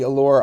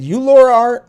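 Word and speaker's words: Ulora: find her as well did i say it wrong oh well i guess i said it wrong he said you laura you laura art okay you laura underscore art u-l-o-r-a underscore art there we go and also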